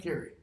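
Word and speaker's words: Carew: There was a guy named Edmund Carey, last name spelled C-A-R-E-W, but pronounced Carey, who died in, or maybe it was Henry Carey, who died in like 1630.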